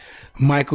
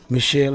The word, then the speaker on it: Michel: You know, margarine has its roots in the discovery of French chemist Michael Eugene Chevreul. Okay, Michel, how they say it, Michel Eugene Chevreul in 1813 of margaric acid.